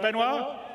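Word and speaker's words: Benoit: waffling on I'd like to bring Ci's CTO benoir bezer did I say it right benoir yeah okay good I'm always bad with French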